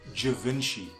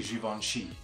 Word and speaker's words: Givenchy: this brand over yeah referring to it as Givenchy but because it's a French thing it is actually Givenchy now as a side